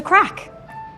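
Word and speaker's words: craic: The crack, The crack. not the drug. It's fun. 여기 유명한 아이리시 슬랭이 하나 나오는데요. 철자는 마치 crake처럼 쓰였는데 마약 코카인을 뜻하는 crack과 발음이 같습니다.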